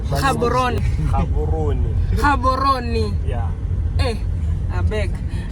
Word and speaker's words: Gaborone: How do you pronounce it? Gaborone. Gaborone.